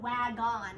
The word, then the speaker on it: wagon: And then O-N, which we know it's O-N because we've memorized it, but it doesn't sound like on. We don't say wag-on, we say wagon.